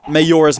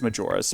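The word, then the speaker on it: Majora: Although that works because Twilight Princess comes after Mayor's Mask, and I'm almost finished with it. And yes, I know it's pronounced Major, but still, you get the idea.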